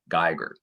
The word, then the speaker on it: Giger: I want to say Giger, like as in Geiger counter, but people in South Carolina, the real Gigers from that line, they seem to all pronounce it as Giger. So that's probably the way you should say it.